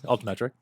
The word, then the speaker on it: Altimetrik: So we have in studio Jacob Evan Smith, who is the partnership manager at Altimetik. Yes, sir. I pronounced that right, I think, right? Yeah. Altimetrik.